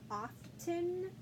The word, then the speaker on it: often: of like listen, how there was that t sound that really didn't show up, like it was kind of like a silent letter. So often, sometimes you'll hear somebody pronounce it often.